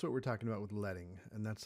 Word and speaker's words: leading: It's pronounced leading, not leading, like you might think.